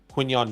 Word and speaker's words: Quinyon: draft so they can take Quinyon Mitchell, or Quincy Mitchell, I think that's how you say it. The Broncos will get Eagles first round. You had it right the first time.